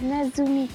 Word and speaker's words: Nezumi: Can't even pronounce it right. It's Nezumi Castle.